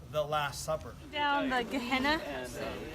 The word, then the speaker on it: Gehenna: Down the Gehenna, right?